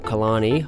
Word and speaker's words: Killarney: chased the storm right now was heading for Kalani I know in the video i said killiney but i didn't know how to pronounce it at the time so we popped